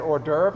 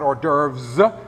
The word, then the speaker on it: hors d'oeuvre: Notice I said hors d'oeuvre, not hors d'oeuvres. She was very strict about that. French does not pronounce the last S.